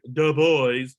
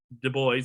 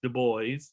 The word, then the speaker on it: Du Bois: Du Bois, not like Du Bois, but Du Bois. It's not French for, you don't pronounce it Du Bois. It's Du Bois.